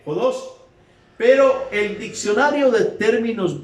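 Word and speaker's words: ὁδός: Y resulta que encontré que la palabra camino es lo que ustedes ven ahí, así se escribe en griego, se lee Jodos, pero el diccionario de términos bíblicos Strong lo traduce de la siguiente manera: camino o carretera.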